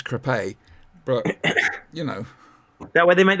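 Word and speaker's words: Crépy: I just want to say that Crawley is twinned with the town of Creepy. It's true. It is. Creepy and Island. That's not quite how they pronounce it. It's Crepe.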